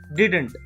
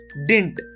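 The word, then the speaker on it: didn't: लोग प्रोनाउंसिएशन करते हैं वो करते हैं डिडंट, बट एक्चुअली हम इसका प्रोनाउंसिएशन जो करेक्ट फॉर्म होता है उसे हम पढ़ते हैं डिंट।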